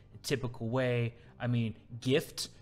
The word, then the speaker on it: GIF: typical way i mean gift you just take the tea off and you have gif so the question the